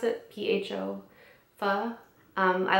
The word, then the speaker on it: pho: went to a Vietnamese restaurant and I got pho. Is that how you pronounce it? P-H-O, pho.